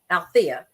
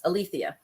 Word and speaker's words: Alethea: my name in Greek so she spelled it a l e t hea and pronounced it Alia versus althia so the only thing